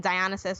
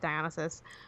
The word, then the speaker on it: Dionysus: So Game Onasis, it's like a blend of gaming and Dionysus or Dionysus, depending on how you want to pronounce that. I pronounce it Dionysus.